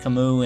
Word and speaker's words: Camus: calm cameras but then we found out there how to actually say his name and that was Camus that's how you say